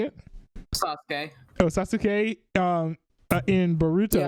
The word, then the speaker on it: Sasuke: Oh, Sasuke.